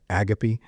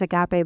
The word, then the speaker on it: agape: if uh so um agape or as CS pronounce it agapy um I'm assuming he's right because he's CS Lewis um and I don't I've always heard as agape, but I'm not like I'm not the most educated person.